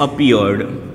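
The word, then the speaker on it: appeared: र sound निकले तब आप ड उच्चारण कीजिएगा, जैसे अपीयर्ड, अपीयर्ड, क्लियर्ड। ठीक है, कवर्ड।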